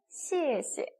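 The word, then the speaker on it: 谢谢: 네, 감사합니다 라는 표현 몇 성이에요? 몇 성? 빨리. 그죠? 4성입니다. 시에시. 다 기억나시죠?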